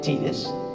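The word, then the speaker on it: Tidus: looked at it saw titus but it's actually tedious and they come up and they say hi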